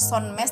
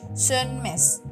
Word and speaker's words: Sönmez: biasa aja tetap korkma kemudian sunmes itu o-nya ada titik dua di atas kan jadi O titik du itu nanti bacanya e jadi bacanya bukan sonmes tapi sunmes sunmes jadi korkma Sun Mes